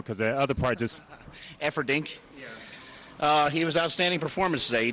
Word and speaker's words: Efferding: You pronounced his name right. I just call him Rhino because the other part just... Efferding.